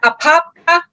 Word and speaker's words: Apopka: mispronounce the name uh why don't you marjorie pronounce the city that you guys are in we are in apopka florida which is north of orlando that's not that hard that's not that hard to say okay apopka florida north of orlando yes so basically uh